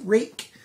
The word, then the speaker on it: Ruike: boxes yes it's pronounced rake the owner of the name gets to say how it's pronounced and they said that the name rhymes with my name jake has a rake knife